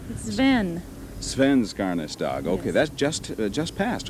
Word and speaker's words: Svenskarnas Dag: They said, "Put the emphasis on the first syllable." Is that right? Sven. Svenskarnas Dag.